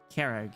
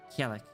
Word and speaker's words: Kag: It's Kag, not Kell.